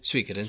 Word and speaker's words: Suikoden: Okay, Suikoden. From what I heard is the correct way to pronounce that game, but yeah.